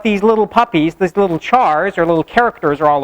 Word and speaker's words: char: We call it either a char, like the first syllable in character, or some people call it a car, even though it's not called a character, because they just look at it and they're like, oh, if it was one syllable, it would just be car.